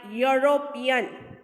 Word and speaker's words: European: But pronunciation starts with Y. Here see, sounds like European. For example, begins with consonant Y sound. When we are pronouncing it, when we are speaking European, so it sounds with Y.